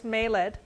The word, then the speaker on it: Mayled: I have been pronouncing it the way that I hear her British accent, so it is Mayled.